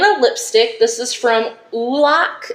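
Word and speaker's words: Oulac: This is from Ulac, is how I think you pronounce it.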